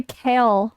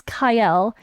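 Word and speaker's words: Kael: We all say kale from Raid Shadow Legends. It's Kyle. Kale is salad. That's spelled completely different.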